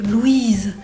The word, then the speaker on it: Louise: Essayez de ne pas manger le i en une seule syllabe parce que en français Louis ça fait vraiment une syllabe. Louise mais là c'est vraiment Lou.